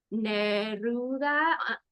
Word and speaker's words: Neruda: She's the author of another book called Neruda on the Park. Did I pronounce that right? Neruda Yes.